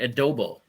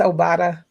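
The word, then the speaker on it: Obada: Yeah, so I think it's Obata. Obata, F.A. Obata. Okay, Obata. My bad. I called him Adobo, but it's small on my screen.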